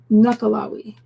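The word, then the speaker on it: Nuckelavee: I had started it and within the listing actually it says Nakalawi. So, it's on the first syllable um which is um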